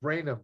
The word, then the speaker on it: Brainum: here by the way the name is pronounced branham just two syllables yeah yeah and as